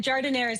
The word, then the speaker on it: giardiniera: Do you say giardiniera or gardenere? We say giardiniera. Giardiniera is fine, but giardiniera is the Italian pronunciation.